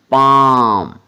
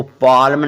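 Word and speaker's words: palm: इसको कॉलम नहीं पढ़ना पी ए एल एम पाम इसको पालम नहीं पढ़ना क्या पढ़ना है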